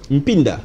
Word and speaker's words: Mpinda: Mpinda. Pinda, Maître Pinda. M-P-I-N-D-A. C'est ce que j'écris, hein, donc le M, Pinda. Il faut qu'on le sente dans votre prononciation.